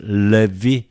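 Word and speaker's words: Λευί: Tu levi, okay, this is a diphthong. E together, f or ev. In this case, because of the following vowel sound, so we pronounce levi.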